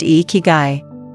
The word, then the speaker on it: Ikigai: The answer lies not in what they remove from their lives, but what they add, a cultural principle called Ikigai, pronounced Ikigai, loosely translated as reason for being.